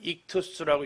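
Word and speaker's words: ΙΧΘΥΣ: 여기 있는 이 글자를 읽어보면 익투스라고 읽습니다.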